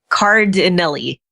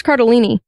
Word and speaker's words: Cardellini: It's Cardinelli. Cardinelli. Card like a playing card. Right. Cardinelli. Cardinelli. Yes. Are you sure? I thought it was Cardellini. Yeah. The L's are before the end.